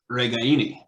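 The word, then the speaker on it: Ragaini: week that Nico reganis last name is actually pronounced regaini did I say that yeah you know and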